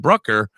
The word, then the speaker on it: Bruckner: me your your your thing and it said Brooker oh yeah yeah so yeah sometimes they put